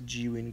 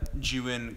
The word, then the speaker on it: Zhiyun: Here's the Zhiyun crane.